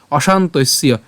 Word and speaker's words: অশান্তস্য: জফল উচ্চারণটা কার মত হবে ইয়র মত হবে উচ্চারণটা কি হচ্ছে শান্তির অশান্তস্য এরপর কুত সুখম কুত সুখম তাহলে আমি যদি